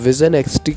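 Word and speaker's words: VisionNXT: इसको मतलब pronunciation विजन XT कह सकते हैं।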